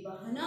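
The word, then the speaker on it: बहना: ಹಾಗೇನೆ ನದಿಯೋನೆ ಬೆಹನಾ ಸೀಕ, ಇಲ್ಲಿ ಬಹನಾ ಅಂತ ಬರೆದಿದೆ, ನೀವು ಉಚ್ಚಾರಣೆ ಬೆಹನಾ ಅಂತ ಮಾಡಬೇಕು. ಹರಿಯುವುದು, ಗುಡ್ಡಗಾಡುಗಳಲ್ಲಿ ಸುತ್ತಿ ಅಪ್ಪಳಿಸಿ ಕೆಳಗಿಳಿದು ಮೇಲ್ ಹತ್ತಿ ನದಿ ಹರ್ಕೊಂಡು ಮುಂದಕ್ಕೆ ಸಾಗುತ್ತೆ.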